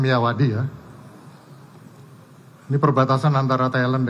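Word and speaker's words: Myawaddy: sendiri itu ada di Kalau tulisannya miiawadi gitu bacanya miawadi Ya ini perbatasan antara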